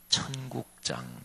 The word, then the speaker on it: 천국장: 그래서 마태복음 13장을 세 글자로 붙여 보면 천국장 이렇게 얘기할 수 있습니다. 때 발음을 잘 아셔야 돼요. 첫자 밑에 니은 받침이지. 혹시나 지금 아침 식사 안 하셨을 텐데.